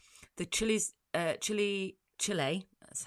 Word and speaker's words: Chile: The Chile uh Chile Chile that's how it's pronounced.